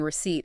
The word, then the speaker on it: receipt: The P in receipt is a good example of that.